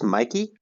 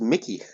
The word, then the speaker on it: Mikey: It's Mikey? That was Mickey. It rhymes. No, I think it's Mikey and Nicky.